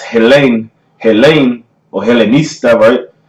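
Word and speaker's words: Hellene: Greek strong Jesus Henry Henry right and it's pronounced Helene Helene Oh Haley nice never goes into the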